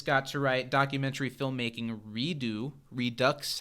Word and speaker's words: Redux: and after this got to write documentary filmmaking Redux. How do you pronounce it when it's Redux written out? I think it's Redois.